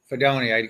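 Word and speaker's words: Fidone: Fedoni.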